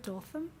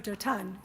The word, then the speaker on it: Dothan: do you pronounce it, Dothan? Oh, Dotan. It's Hebrew, of course.